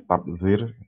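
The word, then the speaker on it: tabdzir: larangan takir 3D larangan tadbir tabzir ya bacanya tabzir Yang 3E larangan tarif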